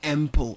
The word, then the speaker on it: Ample: I was wondering how to say it, and I said Ample, and they say, yeah, correct for 3 points.